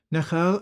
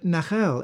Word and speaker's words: nachal: Phonetically, nachal and nahar are the same word. The interchange between the L and R in ancient languages is well attested, but this Hebrew word